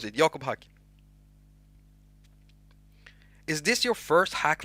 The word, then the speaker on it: Jakob haQ: So basically, Jakob haQ. That's how you pronounce my name.